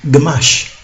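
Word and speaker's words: ግማሽ: English they say half in Ethiopia amarena or Amharic they say gamash gamash so we're finding now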